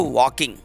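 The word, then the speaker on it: walking: पे लिखा हुआ है तो ये जो ल है ल यहां पे साइलेंट है रूल हमारा ये होता है की के के पहले अगर ल आता है तो अल्कोहल साइलेंट किया जाता है ल का साउंड नहीं आता है तो इसको वॉकिंग बोलेंगे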